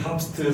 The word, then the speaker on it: TOPST: 그래서 만들어진 게 탑스트 사업 부서고요. 저희가 읽을 때 탑스트라고 읽거든요.